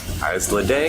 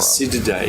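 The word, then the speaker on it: Isididae: So that looks like a priminoid, a bamboo coral, in the family Islidae, I think it's pronounced. We're saying it wrong. Acididae. Acididae.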